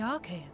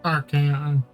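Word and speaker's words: Archeion: Isn't that the entrance to the Archaean? Okay, Archaeon. I was over-pronouncing it.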